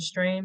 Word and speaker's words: STRM: It's STRM. I pronounce it Stream because we focus on